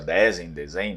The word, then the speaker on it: Dezen: também variações de pronúncia, Dezen, não sei, mas na verdade o sobrenome seria lido como Dezen, porque praticamente a gente